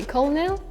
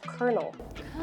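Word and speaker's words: colonel: KFC um it's pronounced kernel colel col with the r it's more yeah we'd say like oh it's a kernel kernel yeah it sounds like like a kernel of corn it's not very common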